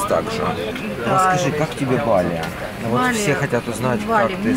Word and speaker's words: Bali: Прекратите ездить в Таиланд, посетите Бали. Оно тоже достойно внимания, и поверьте, это будет... У вас это очень-очень удивит. Да, просто супер. Правильно говорить вот. Бали. Местные жители не Бали, а Бали.